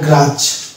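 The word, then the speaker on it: grudge: আছে জি উচ্চারণ যত্ত হবে এটা হচ্ছে এটার উচ্চারণ যেমন হবে গ্রাজ গ্রাজ গ্রাজ মানে যেমন হিংসা গ্রাজ এখানে ডি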